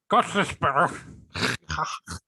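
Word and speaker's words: Gostisbehere: No, it's very easy to say. It's Shayne. Look, repeat after me. Ready? Shayne Gostersbrehere.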